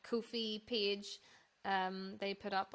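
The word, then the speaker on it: Ko-fi: um so the like Kofi page um they put up on their like Instagram today and it was like a thing about how to pronounce it and it is supposed to be pronounced Kofi and I even in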